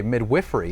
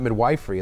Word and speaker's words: midwifery: and now I learned a new way to pronounce the word today midwifery it's not midwifery as I thought it was and there's